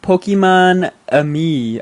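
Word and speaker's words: Pokémon-Amie: Um, and it's called Pokemon Ami, I believe. Yeah, that's how they pronounced it.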